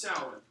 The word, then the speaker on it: Samhain: It's spelled Samhain, so Samhain. One word though. It's not a dude. Play it again, Samhain. Yeah, that's. And it's pronounced Samhain. Yeah.